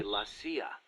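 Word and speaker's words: la CIA: They say Lassia instead of CIA. Huh? Um, nothing strange about it. That's how it's pronounced when you read it in Spanish.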